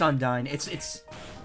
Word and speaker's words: Undyne: It's pronounced Undyne.